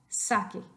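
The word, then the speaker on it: saqué: Sake. Sake. And then the preterite version, give me some oomph on the last syllable.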